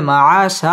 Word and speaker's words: معاشا: নাহারা র পুর হবে মা মধ্যে তাবাই একালিফ টেনে পড়তে হবে মাআশা দুই জবরের বামে ওয়াকফ